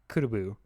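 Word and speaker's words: クラブ: He's like, basically say club without the L and put another syllable on it. It's kurubu.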